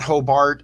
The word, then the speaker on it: Hobart: And I said it right. It's Hobart, not Hobart.